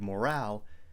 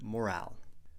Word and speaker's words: morale: You have good morale. Make sure to put the stress on the second syllable.